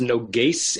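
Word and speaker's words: נוגש: the word is pronounced noas it's a sin not a shin um and the noas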